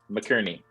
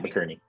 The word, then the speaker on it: McInerney: McInerney. That's how you say it, McInerney.